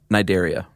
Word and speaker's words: Cnidaria: Cnidaria. Why would they put the C there? It's silent, man. You know, I appreciate a silent letter.